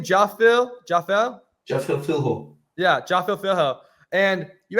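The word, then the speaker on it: Jafel Filho: Jaffel Philho.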